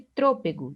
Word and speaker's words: trôpego: Essas palavras, elas são paroxítonas, porque elas têm a penúltima sílaba mais forte. Agora, observem as palavras dinâmico e trôpego.